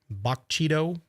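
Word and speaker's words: Bogue Chitto: Bogchito, I believe is how that's pronounced.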